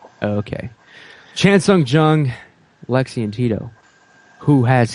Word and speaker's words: Chan Sung Jung: Chen Sung Jung. Okay. Chan Sung Jung, Lexi and Tito.